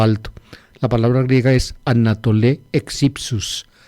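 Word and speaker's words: ἀνατολή: La palabra griega es anatolé exipsus. Anatolé o Anatolí pronuncian los griegos modernos.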